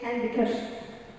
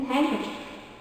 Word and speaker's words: handkerchief: The silent D is not pronounced in the following common words. I don't say handkerchief. Okay? It's a handkerchief.